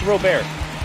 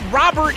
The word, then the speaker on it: Robert: the same time I it's Louis Rober that that's all I'm going to say he never said Robert in that press conference he was like I